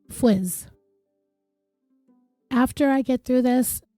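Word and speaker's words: Fuisz: looked it up and it looks like it's pronounced Fizz after I get through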